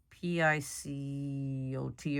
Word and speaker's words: picot: going to create a picot. It's a French word. It's P-I-C-O-T or something. I forgot how you spell it. But it sounds just like the Spanish version, picot, which means a little point.